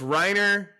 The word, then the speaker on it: Rainer: So it's Reiner.